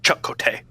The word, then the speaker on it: Chakotay: Like, everybody's kind of like Chakotay. Anytime Torres Balana says it, she's like, Chakotay.